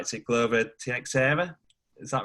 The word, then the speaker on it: Teixeira: Is it Glover Teixeira? Is that right? Or have I butchered his name? Teixeira.